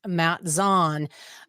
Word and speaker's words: Matt Zaun: very excited today to chat with our guest Matt Zan um and I didn't even ask you beforehand did I pronounce that correctly you did thank you I